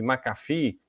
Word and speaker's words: McAfee: dúvida é assim não F2 e voltei a pronúncia né macarf macafee é marca foi só para ficar com a